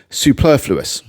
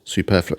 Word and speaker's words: superfluous: She almost felt a bit superfluous. 4 syllables. Superfluous. Yes, superfluous.